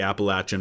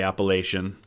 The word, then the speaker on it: Appalachian: the Western borders the Appalachian Mountains and yes that is how it's pronounced by people who actually live in what we call Appalachia um many people say appellation Appalachian mountains are the